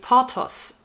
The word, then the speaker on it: Porthos: pattern is called so in english i would say porthos it's a french name i don't know how to pronounce that and in german we would say portos p p-o-r-t-h-o-s it's one